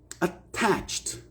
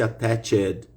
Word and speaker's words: attached: Na maioria das vezes, pessoal, quando se trata de um verbo regular, a gente não vai pronunciar a letra E.